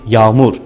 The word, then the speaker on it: yağmur: Yağmur kelimesindeki ortadaki yumuşak G'yi söylemeyiz, kendisinden önceki A'yı biraz uzatarak bu kelimeyi telaffuz ederiz. Yani yağmur yerine yağmur. Ağaç yerine A'yı uzatarak söyleriz.